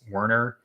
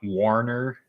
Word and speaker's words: Werner: Some people think it's Warner with an A. It's Werner. I don't know if that sounded any different there, but it's Werner, not Warner, even though that's what some people try and pronounce it as, thinking that it has an A in it, even though it's Werner.